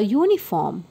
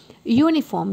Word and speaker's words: uniform: is y u so these words begin with Y sound the letter y is